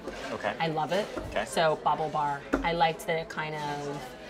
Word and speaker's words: BaubleBar: did the name come from so it's called Bobble bar and you spell that yeah b a u b l e